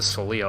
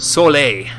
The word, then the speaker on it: Soleil: were on was the Soleil, okay. Or the Soleil, actually, would be the correct way to say it. Everything in this game is hard to pronounce. It's French, in this case, anyway.